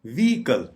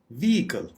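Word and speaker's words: vehicle: व्हीकल, व्हीकल इसको आमतौर पे प्रोनाउंस किया जाता है वेहिकल, जिसका मतलब है गाड़ी, लेकिन इसकी करेक्ट प्रोनाउंसिएशन है व्हीकल, व्हीकल, व्हीकल। यानी एच पे आपने बिल्कुल एम्फेसिस नहीं देना, यानी जोर नहीं देना, और बड़े आराम से इसको प्रोनाउंस करना है व्हीकल।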